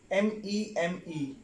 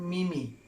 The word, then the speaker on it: meme: Well, meme. M-E-M-E, meme. I often see people, they pronounce the word mimi. That is not the word mimi, that is meme.